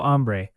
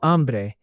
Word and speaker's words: hambre: And remember, hambre is feminine in meaning, but you say el hambre in some cases because the word starts with a stressed A sound.